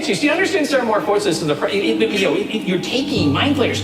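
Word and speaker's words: ceremorphosis: I need you to tell me everything you know about serothrombosis. Come on. It's seromorphosis.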